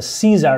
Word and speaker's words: CZUR: here this is actually going to be called the Caesar CZ it's spelled differently it's called the fancy